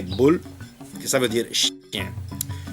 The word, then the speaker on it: Boel: Boer, les colons sud-africains, et Boel, qui est prononcé boule, qui ça veut dire chien.